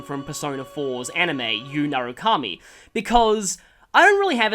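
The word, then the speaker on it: Yu Narukami: to abbreviate it I just have to call him you nuruk Kami but I'm going to be pronouncing it y narukami like it should be so don't worry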